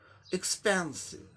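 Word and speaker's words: expensive: दूसरे सिलेबल में आ गया, इसलिए इसको भी उच्चारण दूसरे सिलेबल में करना पड़ेगा। एक्सपैन, एक्सपेंसिव, एक्सपेंसिव, एक्सपेंसिव, एक्सपेंसिव, एक्सपेंसिव माने महंगा, महंगा, कोई चीज महंगा होता है, एक्सपेंसिव।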